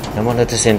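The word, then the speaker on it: 山手線: 山手線と書いて山手線と読む。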